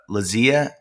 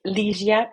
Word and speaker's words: Ligia: And today I'm very excited to be speaking with Lizia. Did I pronounce it correct? No, it's Ligia.